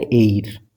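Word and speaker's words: heir: अच्छा इसको सब क्या पढ़ाता है? यह पढ़ाता है एर। यह क्या पढ़ाता है? इसका उच्चारण है एर।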